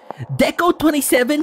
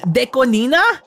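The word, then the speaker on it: DECO*27: Deco27 pronounced Deconina? Oh, because Ichini.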